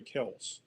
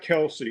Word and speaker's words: Kelce: Uh yeah, the correct correct pronunciation is is actually Kelse.